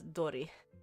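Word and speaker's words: 通り: as in otatori, as I thought, but it's pronounced as dori.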